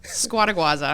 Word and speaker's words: Scuoteguazza: You pronounce every letter in it, but it's just that there's 12 letters, and you look at it, and you're like, that's a lot.